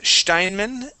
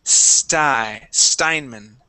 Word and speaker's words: Steinman: Now, even though it may be pronounced Steinman in Germany, in the U.S. we would say Steinman.